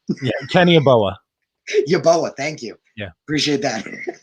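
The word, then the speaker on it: Yeboah: not sure what i'm saying yeah kenny boa yoboa thank you yeah appreciate that let's say right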